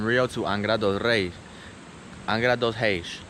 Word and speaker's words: Angra dos Reis: Angra dos Reis, how you say it in Portuguese.